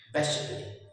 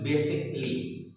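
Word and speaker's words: basically: इस ए के पहले BASIC बेसिक, बेसिक एंड LY ली, बेसिकली, बेसिकली। तो इन शब्दों में हमने कहीं भी ए को रीड नहीं किया।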